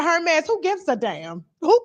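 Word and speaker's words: Hermès: They was like, "Tasha, it's not Herms. It's not Herms." I was like, "What is?" They said, "Hermes, who gives a damn?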